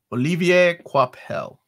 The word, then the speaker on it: Olivier Coipel: Olivier Coipel. That's how I was told to pronounce it.